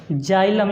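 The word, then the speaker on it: xylem: एक्स का मैं इसका उच्चारण 'ज' करूंगा। . तो अगला वाला। हम X देखते हैं- जाइलम, यह हो जाएगा।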